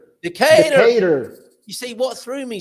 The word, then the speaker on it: Decatur: with a Southern accent you got to say Decatur Decatur maybe Decatur but the emphasis is on the